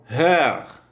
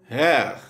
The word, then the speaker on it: Herr: Le E de Herr est très ouverte, proche du E du français. Comme par exemple, mère, ou du E direct, par exemple, direct.